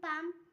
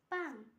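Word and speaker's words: palm: এর আগে এল silent rule, যেমন পাম, পি এ এল এম, পাম। পি এর আগে এম এর আগে এল আছে, তাই এল এর উচ্চারণ হয়নি।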